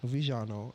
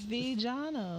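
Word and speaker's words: Vejano: Vijano. Yeah, Vijano. Vijano. Yep, exactly. You're right. You gotta say it with accent.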